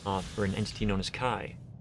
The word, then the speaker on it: Chi: in this place for an entity known as kai kai is spelled c i letter not pronounced she just remember why pretty sure a lot of people are calling it cheeto that's okay if they've never heard it that